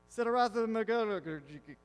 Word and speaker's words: Siddhartha Mukherjee: Okay, this is written by Siddhartha Mukherjee. That's how you pronounce his name.